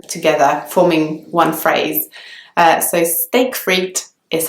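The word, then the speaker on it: steak frites: of like in English the word steak is just pronounced like the English word steak and then fruit is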